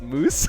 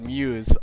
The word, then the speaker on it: MuZe: MuZe should be pronounced "Moose". *laughs uncontrollably* I can't believe... I saw that, I think it was on Plat Chat that they were like "it's pronounced 'Moose'" and they were completely serious. They did not get the sarcasm, that it's just MuZe.